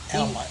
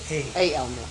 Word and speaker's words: Alma: Alma Alma Weisselbaum. Weisselbaum, Weixelbaum. And it's Elma or Alma? Alma, Alma.